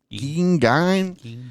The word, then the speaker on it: Gein: Then uh we're going to talk about Monster, the Ed Ging story. Is that Did I say that right? Ging. Yeah. Ging.